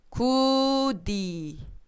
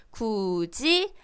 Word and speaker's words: 굳이: 구디, 갈거디. 자, 구디, 갈거디 이렇게 읽습니까? 아니죠, 그죠? 굳이, 갈거지라고 읽죠. 분명히 드 소리로 써져 있지만 발음은 어떻게 해요? 즈로 발음을 하고 있어요.